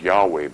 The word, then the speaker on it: Yahweh: It's Yahweh, brother.